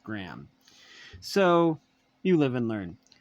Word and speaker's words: Graeme: Now I realize it's pronounced Graham.